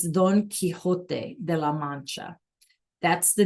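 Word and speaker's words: Don Quijote: And maybe you've heard of in English we pronounce it donote. All right. But it's Don Kiote de la.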